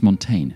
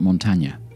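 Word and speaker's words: Montaigne: Montana here's an apology I think I've been mispronouncing his name it's Montaine not Montana sorry but what's all this got to do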